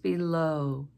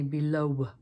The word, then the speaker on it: below: new below it's just below with that o as our ending sound we don't say below so that W is silent we need to be